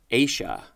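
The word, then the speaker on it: -aceae: So the word is pronounced Asia.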